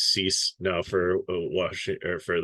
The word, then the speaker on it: Cease: I know it's Cease now for Washington, or for the Chicago White Sox, because I got helped out with that one a couple videos ago.